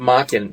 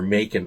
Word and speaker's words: Machen: Anyways, Arthur, I pronounce it Machen because most people I talked to a linguist, and he said most people would pronounce it Machen. it's okay if you pronounce it Machen or Macon, I've been told.